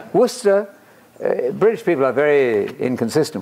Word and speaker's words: Worcester: Gloucester not Glau sister not war sister Worcester British people are very